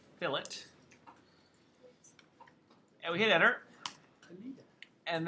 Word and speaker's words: fillet: the command is called fill it it's not French it's not filet it's f-i-l-l-e-t ex pronounced fill it and we hit enter